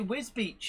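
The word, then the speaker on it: Wisbech: like jarrah yeah actually wiz beach is the one that um when you see it written down a lot of people get that because it's it's misspelt whisper yeah where's batch or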